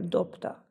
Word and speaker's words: dobta: ezekről itt van például a dobta szavunk ugye b-vel írjuk le de a kiejtésben p hangzik el méghozzá pont a mellettük álló t miatt hiszen ez a t